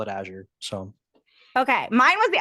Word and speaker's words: Azure: we just get it on record it is pronounced Azure Azure yeah all right you can call aour that's what I keep hearing and I don't